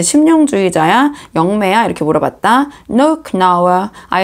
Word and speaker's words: Knauer: 그래서는 이제 독일어를 이제 원본이 독일어기 때문에 크나우어라고 이제 독일어로는 발음하고 영어로는 K를 묵음으로 해서 Knauer라고도 하는데요. 저는 그냥 Knauer라고 하도록 하겠습니다.